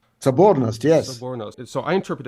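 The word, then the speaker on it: соборность: One word that I loved, and which I think is very important for our discussion, if I'm pronouncing this, Sobernost? Sobornost, yes.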